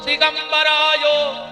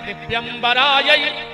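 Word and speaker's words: दिव्याम्बराय: तो आदमी जल्दी जल्दी में कहते हैं दिगंबराय च दिगंबरायो, जबकि शुद्ध उच्चारण है दिव्यंबराय च दिगंबरायो। मतलब हे माता पार्वती, जिनके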